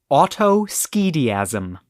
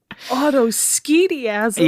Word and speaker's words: Autoschediasm: right now all right and that word is Autos scasm oh no Autos SK ASM yeah I'll spell it for you boy you're not pulling any